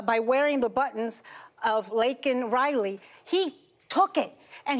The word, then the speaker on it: Laken: Rattle him uh by wearing the buttons of lakan Riley he took it and he looked at